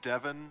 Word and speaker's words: Devian: Her full name is pronounced as Devin, as in like the masculine name.